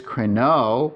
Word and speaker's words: κρινῶ: So here's crino with the acute accent on the first syllable. That's the present active indicative. This means I am judging. Here's crino with the accent on the second syllable in circumflex, and that's I will judge.